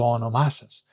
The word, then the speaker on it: όνομά σας: When you have a word with three syllables mostly, and then the next word is an unstressed personal pronoun, like mu, su, tu, ma, sas, then the tone from this pronoun goes back on the previous word.